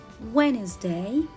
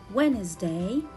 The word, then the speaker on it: Wednesday: be silent letter as in the word when is day when is day i cannot read it witness day no i will read it wednesday wednesday and the word handsome